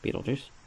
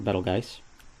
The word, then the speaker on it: Betelgeuse: See, there we are, Beetlejuice, or Betelgeuse, however you want to pronounce it.